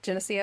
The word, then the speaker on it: Geneseo: Geneseo. Did I say it right? Geneseo?